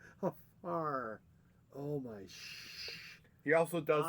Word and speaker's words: Hfuhruhurr: Hfuhruhurr. It's like, how do you spell that? HFU, HFR, HFURR. Just like it sounds. Hfuhruhurr.